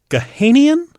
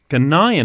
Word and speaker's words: Ghanaian: stadium disaster 129 uh gahanian Ghanaian Ghanaian is that how that's pronounced yeah from Ghana um football fans die